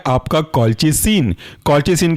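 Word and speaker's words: colchicine: है वह है आपका कलच सन कलच सीन की स्पेलिंग ऐसी है इसको तोड़ करके अगर हम बोलें तो होगा ये आपका कलच फिर लास्ट में जुड़ जाएगा सीन स्पेलिंग है कॉल च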